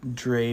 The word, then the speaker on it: Dree: No, it's Dre, but it's spelled Dree.